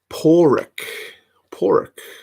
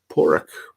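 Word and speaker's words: Pádraig: Porrick. Okay. It's a trick question, though, based on the spelling. Just saying, I don't know the rules for how Irish names are pronounced.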